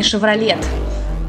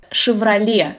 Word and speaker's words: Chevrolet: бренд сначала вы это не chevrolet это вся валяй сиквеле chevrolet если на наш манер